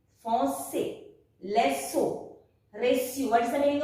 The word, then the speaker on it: leçon: If you don't put cedille, it is pronounced as lecco. But you put cedille and it will become leçon.